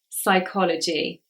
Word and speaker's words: psychology: the letter P and normally if it's with a PS it is silent so we would say the s not the P psychology however sometimes pH is